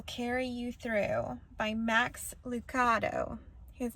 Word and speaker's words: Lucado: I am coming to you tonight from a book called God Will Carry You Through by Max Lucado. His name is pronounced Lucato.